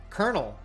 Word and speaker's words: colonel: how do you pronounce how do you pronounce kernel kernel you know like a popcorn kernel thank you very much